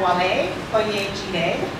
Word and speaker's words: Wale Oyejide: In the middle here, we have Wale Oyejide. Did I pronounce that correctly?